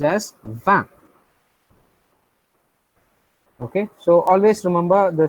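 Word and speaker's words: vingt: for number 20 so 20 is pronounced as van so you guys are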